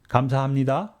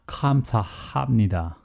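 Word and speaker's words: 감사합니다: using romanized sound symbols we know how to pronounce as natives kamzhamnida not kamsa hamnida a variation of kamsahamnida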